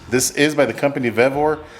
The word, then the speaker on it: VOR: is by the company VOR a lot of people say vivor but it is spelled the same v v o r so check them out